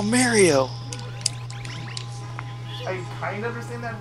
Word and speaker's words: Mario: an accent thing some people like from California will say Mario it's weird it's wrong too like if you watch it anything official Nintendo they say Mario not Mario it's like OCD it's like say it correctly I'm gonna have fun